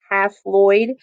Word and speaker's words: haploid: at how they're represented these haploid cells or i like to pronounce them as half lloyd uh that just kind